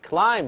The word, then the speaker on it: climb: 好，下一个。Climbing up a hill 很简单，在爬山，hill 就是小的山坡啊，我们就直接念了，climbing up a hill，climbing up a hill。注意，climb 这个单词里面那个 b 是不发音的，很多同学的话总搞不混，有搞混的，叫 climbing 啊，climb 不对，那个 b 的话是不发音，好比这个梳子 comb，comb